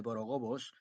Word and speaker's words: borogobos: Asimismo, la primera O de borogobos se pronuncia como la O del loro. He oído gente que trata de pronunciarla como la O de ahoga.